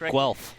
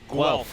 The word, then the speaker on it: Guelph: do you pronounce it Guelph Guelph with a W sound gotcha everybody's slipping and